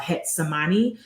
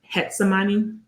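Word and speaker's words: Getsemaní: have this neighborhood called hetani and it's spelled with a G hetani when I say beautiful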